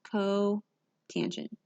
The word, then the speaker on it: cotangent: And cotangent is represented as COT. This is pronounced cotangent.